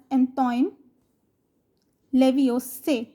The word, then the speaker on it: Antoine Lavoisier: Similarly, in the French language, the last letter is always silent. So we pronounce the name as Antoine Lavoisier.